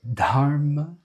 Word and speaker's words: Dharma: Can you hear the aspiration with the Dharma?